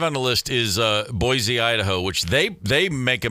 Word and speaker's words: Boise: Well, number 5 on the list is Boise, Idaho, which they make a mistake out there. They pronounce it Boise, but I call it Boise because I'm not from there.